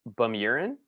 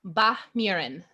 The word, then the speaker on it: Bahmurin: Bahmurin. Bahmurin. There's no ch. Bahmurin. It's like instead of a u, it's a mi. It's like a I sound.